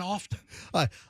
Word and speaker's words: often: At best, you're an often.